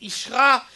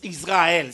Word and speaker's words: Israël: Ou même pas dit Isra, me dit Ishra, c'est parce que dans la bonne prononciation, on ne dit pas Israël, ça ne se dit pas.